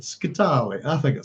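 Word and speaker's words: Scytale: It's Scitale. So overemphasize the last consonant, Scitale.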